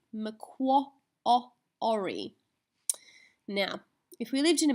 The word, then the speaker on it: Macquarie: and if you live in Australia the word McQuarrie McQuarrie now if we lived in America or we